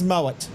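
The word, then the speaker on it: Moët: The ones who say Moe, That is a Melbourne suburb. who think they're classy, and I'm talking about the North Shore, Upper North Shore women. It's Moet.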